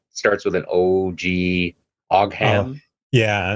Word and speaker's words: Ogham: like a little bit of how do you pronounce the word for the alphabet? Starts with an O-G, Oh, Ogham.